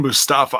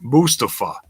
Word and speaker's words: Mustafa: It's not Mustafa. That's mispronouncing the wrong syllable.